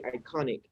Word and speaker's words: iconic: If you say iconic, In ZO, iconic. you have the stress on the second syllable, right?